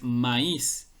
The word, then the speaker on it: maíz: Porque si no llevara tilde diría maíz, como los pronuncian en algunos lugares o en la manera de juego cuando dicen ni maíz, ¿no? Pero esa no es la forma correcta de pronunciarlo. La palabra correcta es maíz.